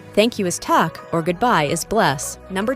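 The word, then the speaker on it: takk: Hello in Iceland pronounces halo, thank you is tak, or goodbye is bless.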